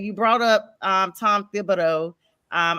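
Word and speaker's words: Thibodeau: You brought up um Tom Thibido. Um I always want to not pronounce the H. It is Thibido.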